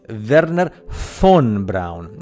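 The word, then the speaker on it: Wernher von Braun: NASA Verner Fon Brown you must spell that correctly Verner F because the v in German in Germany in German sounds like an F so it's verer Fon Brown you know the guy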